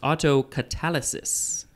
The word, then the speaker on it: autocatalysis: is omnibus first meaning the next word is auto catalysis i think it is pronounced autocatalysis the next word is autocatalysis there you go